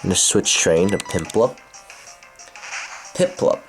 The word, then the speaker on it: Piplup: Piplup, not Pimplup. It's Piplup.